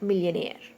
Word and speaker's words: millionaire: It's a word like millionaire. Okay. Million air. Okay, so the last syllable is air, so that's why the stress is on nair, NAIRE.